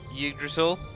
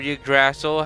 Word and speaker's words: Yggdrasil: have the address of yggdrasil or you grassle however you want to pronounce it we have the great ash tree igg drizzle and a three